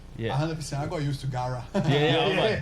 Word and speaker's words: Garra: oh quick question though um is it it's pronounced gaha yeah is there a meaning but no i was in brazil yeah i got used to gara yeah how many times did people thought the